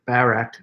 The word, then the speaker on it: Barak: dynamics here so deborah goes to the reader pronounce it barak i always pronounce it barack baby that's because of our former president but